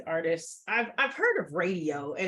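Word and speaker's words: Raedio: by um these artists I've I've heard of radio and it's spelled r-a-e-d-i-o but I had never heard of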